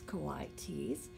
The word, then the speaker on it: coatis: pigs or raccoony dogs these are cotys miss brain Brisbane said reading from the letter pronounce Kauai T's the coatis looked weird